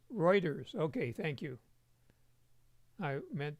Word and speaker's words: Reuters: It's pronounced Reuters.